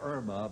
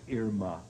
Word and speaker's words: Irma: Most people say Irma, but really the correct pronunciation is Irma, as in Irma la Douce.